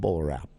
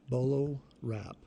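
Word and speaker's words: BolaWrap: How is this spelled, Bolo Wrap? It's BOLO. BLO. WRAP. Bolo Wrap.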